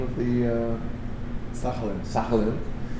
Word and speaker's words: Sakhalin: So you were a young guy growing up wild in how do you pronounce the name of the Sakhalin. Sakhalin.